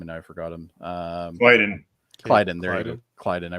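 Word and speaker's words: Klyden: Clyden.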